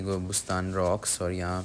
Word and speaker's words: Gobustan: यह पहाड़ है और इसको हम तो गोबुस्तान कहेंगे लेकिन उनकी लैंग्वेज में इसको कोबू स्तान करके प्रोनाउंस करते हैं खैर वहां पे मुझे